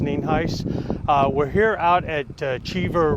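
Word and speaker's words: Nienhuis: County Sheriff ninheis spelled n-i-e-n-h-u-i-s and it's pronounced neenheis we're here out at cheever Road in Hernando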